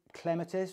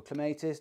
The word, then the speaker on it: clematis: and and actually the hand drill half board clematis or clematis depends how you say it and the drill